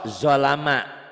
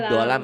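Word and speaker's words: ظلم: wa may yata'adda hududallahi faqad zalama nafsah Bukan do, ini zo. Zolama. ZHO. Bukan dolam. Zo. Kalau do, so titik ini to titik.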